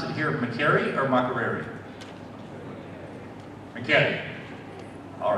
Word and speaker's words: Makerere: You pronounce it here Makerere or Makerere?